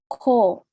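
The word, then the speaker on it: 코: Ko. Benar, ko. Ko. Perhatikan hurufnya ya teman-teman. Di sini pakai huruf kyuk. Bunyinya ke. Ada angin atau udaranya.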